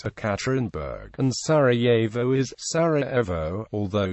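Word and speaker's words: Екатеринбург: Boris Yeltsin is Eltsin, Yekaterinburg is Ekaterinburg, and Sarajevo is Sarajevo, although Yelena Yankovic is Yelena.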